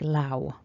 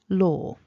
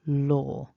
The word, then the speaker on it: law: We don't need to make a W sound. So it's not lower and it's not low. Law is what we're aiming for, law or law.